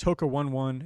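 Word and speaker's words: Hoka One One: out a few brands hookah 1-1 is how you say that yeah not even joking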